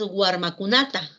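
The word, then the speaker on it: warmikunata: Tenemos la palabra entonces guarmacunata, guarmacunata. Guarmacunata ha añadido un morfema, el morfema ta, que indica beneficiario. Y fíjense que el acento sigue estando en la penúltima sílaba.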